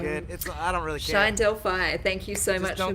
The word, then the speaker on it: Delphi: can you say it one it's a delphi delphi it's all fine delphi all right well i'm really sorry about that i'm good i don't really know delphi thank you so much for being on the